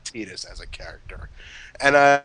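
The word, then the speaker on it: Tidus: You know, a lot of people a lot of people got on Tetus's that's how that's how his name is pronounced, by the way. It's Tetus, not Titus.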